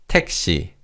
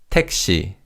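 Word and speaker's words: 택시: In Korean, this is pronounced as tei. Texi. Let's say that together. Repeat after me. Texi.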